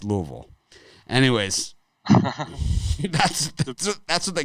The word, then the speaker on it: Louisville: know that Louisville has like 6 to 8 pronunciations. Louisville, there's all people call it all different kinds of stuff, but it's Louisville.